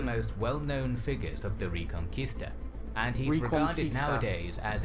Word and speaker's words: Reconquista: and the a it it's pronounced as conquista as in conquistadors so reconquista so yeah so i